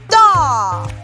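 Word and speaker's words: dağ: english speakers to pronounce in turkish writings the letter exists but it is slightly pronounced or not pronounced at all for example and as i may join means mountain however in turkey it is pronounced as dog second example and allah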